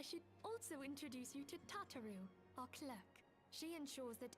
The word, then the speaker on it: Tataru: Oh, I should also introduce you to Tataru, our clerk. She ensures that everything runs smoothly. It's still weird hearing it's pronounced Tataru Pleased to make your instead of acquaintance.